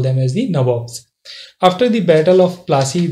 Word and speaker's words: Nawab: So what this term Nabobs? So when they were not able to pronounce it correctly, so they used to call it as, instead of Nawabs, they used to call it as the Nabobs.